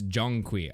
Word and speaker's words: Zhong Kui: Oh, it's like Jong. It's a It's Jongqui. Ah, I see. I see my mispronunciation.